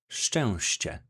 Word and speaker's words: szczęście: It is pronounced as szczęście.